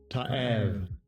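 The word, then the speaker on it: תעב: All right, and also the root word, 8581, which we have up here, all right, which is Strong's H8581, Ta'av, Ta'av.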